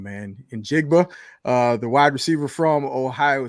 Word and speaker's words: Njigba: I always pronounce his name wrong, man. Njigba, the wide receiver from Ohio State.